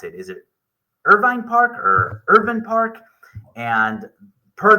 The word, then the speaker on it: Irvine Park: and per the family and per how you pronounce the name it's irin Park I will say that both are acceptable however it's technically Irvin Park and the history to this park is amazing